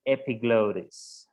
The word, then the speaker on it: epiglottis: And in English we say epiglottis, ok? Epiglottis, ajá, epiglottis, right? So here we have the uvula, the pharynx, the epiglottis, and then we have this.